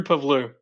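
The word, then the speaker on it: Pavlou: How do you pronounce it? Yeah, Drew Pavlu. Drew Pabloo.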